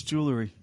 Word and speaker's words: jewelry: no it's just jewelry no it's jewelry it's jewelry there's no E before the r it's not jewelry jewelry oh Joe Joe